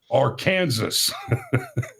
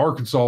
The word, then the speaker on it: Arkansas: it over out of Arkansas. I think it's funny that we pronounce that last S like a W.